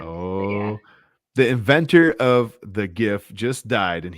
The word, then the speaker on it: GIF: the inventor of the gif just died and he pronounced it like jif peanut butter thank you michael casell